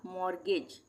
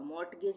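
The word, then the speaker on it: mortgage: मोरगेज मोरगेज इसको हम पढ़ेंगे मोरगेज। टी का उच्चारण नहीं होगा। मॉर्टगेज नहीं पढ़ेंगे।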